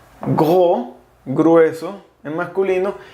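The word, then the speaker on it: gros: host qué es grueso se pronuncia jugó sin s go grueso en masculino y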